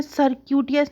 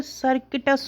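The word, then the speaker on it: circuitous: देखो यहाँ पे ये जो होता है ना, सर्क्यूटियस नहीं होता, सर्किटस होता है।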